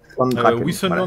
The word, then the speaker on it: Wissenland: Wissenland voilà. Est nul, tu vas jouer, voilà. Wissenland est nul. Oh là là, les W en allemand ça se prononce V, c'est comme vrai.